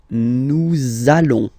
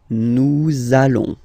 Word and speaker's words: nous allons: between the words, so it does mean that you will have to pronounce this z sound, okay? Listen to me. Nous allons. Nous allons.